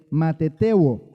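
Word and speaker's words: μαθητεύω: cuando dice hacer discípulos viene de matetebo así se así se pronuncia no no significa alumno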